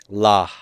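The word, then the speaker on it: לָהּ: Is the pronunciation basically the same? You should pronounce the hey, but of course in fast speech, people won't take the time to do it.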